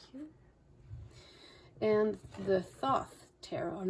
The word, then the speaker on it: Thoth: And the Thoth Tarot. I'm not sure how to pronounce it.